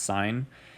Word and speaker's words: sine: find sine it's the it looks like sin it's SI n it's abbreviated down below here but it's pronounced sine and then we have